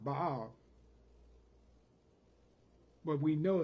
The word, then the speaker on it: Baal: In the Hebrew, that word is pronounced Baal.